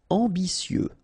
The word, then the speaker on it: ambitieux: Ambitieux final X not pronounce and remember that you t I ambicieux ambitieux amusé.